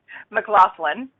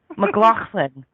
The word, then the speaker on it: McLoughlin: something funny when I pronounce it can you pronounce your last name for me one more time McLaughlin McLaughlin I think I need to get an accent